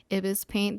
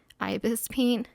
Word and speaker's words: ibisPaint: do refer to it as ibiz paint the entire video even though i know now it's ibis paint but yeah i guess